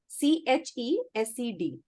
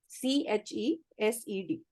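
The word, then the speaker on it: חסד: So she's called Hesed. Lekin uska pronunciation है CHESED. CHESED.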